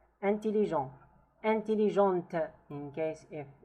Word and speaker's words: intelligent: Intelligent. Intelligente, in case if it's feminine, the T is pronounced.